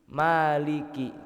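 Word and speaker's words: مَالِكِ: 1 2 3 Ya, biasanya di orang kita ya, Pak, orang Indonesia itu yang sering terjadi kekeliruan itu di Maliki. K-nya itu pendek, Pak, bukan panjang. Kadang itu enggak sengaja itu dipanjangin keliru, ya mungkin. Maliki nah itu seharusnya k-nya itu pendek, Pak.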